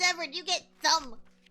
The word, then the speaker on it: Thumb: Thumb pronounced tomb.